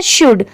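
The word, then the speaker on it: should: जैसे देखिए ये है शुड। तो शुड में एस एच ओ यू एल डी। यहां पर एल की साउंड नहीं आ रही है। अगर हम इसे पढ़ें तो यहां पर यह शुल्ड लिखा है।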